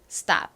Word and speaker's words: stop: stop. 이 단어에서 역시 S의 뒤에 T가 왔죠. 이때 T는 station에서 그랬던 것처럼 강하게 된 소리로 발음이 됩니다. stop이 아닌 stop, stop 이렇게 쌍디귿처럼 발음이 되죠. 그리고 이 stop이라는 단어도 잘 보시면 모음이 딱 하나밖에 없어요.